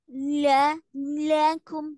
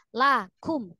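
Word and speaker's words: لكم: intaquahajalakum Iya Umi kalau ketemu lam sama Kaf laakum lamnya Kenapa jadi melar jangan dimelar melarin lakum lakum enggakakum kemudian di eh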